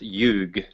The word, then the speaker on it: yuga: so satya-yuga or youg so actually it's actually pronounced youg and yeah and then